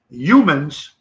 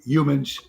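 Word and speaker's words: Youmans: and he caught it Corey humans uh pronounced y-o-u-m-a-n-s Corey humans happy day millions of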